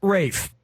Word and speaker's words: Ralph: enjoy this excuse me name is spelled like Ralph but pronounced Rafe Joseph Fiennes is pronounced